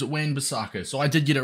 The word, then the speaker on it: Wan-Bissaka: like 10 minute video according to Handy old Google it is Wayne besaka so I did get